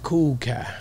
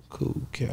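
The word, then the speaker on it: Kool Kiy: Matter of fact, it's Cool Kai. K-O-O-L-K-I-Y. Cool Kai. K-I-Y. That's different. K-I-Y.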